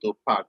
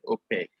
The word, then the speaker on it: opaque: Some people call it opaque, but it's good to call it opaque. That's the right pronunciation.